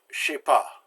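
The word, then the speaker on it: je ne sais pas: know gender say pas but when you speak it oftentimes it comes out as Shippo the is the the e'en no jaws dropped in fact the entire note is dropped and the J and the S get ran together to shape ha that's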